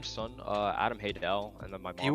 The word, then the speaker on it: Haydel: By all technicality, it is pronounced Haydel, but I don't give a shit. It's Haydel.